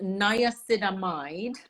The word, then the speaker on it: niacinamide: I think it's pronounced Niacinamide, 1% and zinc.